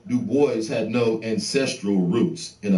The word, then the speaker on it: Du Bois: black david levering lewis w.e.b du bois yes he always insisted on that pronunciation uh he did not like the gaelic pronunciation though in his antecedents he was partly french look at this nigga's